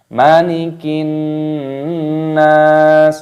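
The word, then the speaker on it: مَلِكِ النَّاسِ: Malikin nas, malikin nas. Alif lam samsiyah. Perhatikan di sini ada huruf nun yang berharokat tasdid, maka dimasukkan dan disertai berdengung.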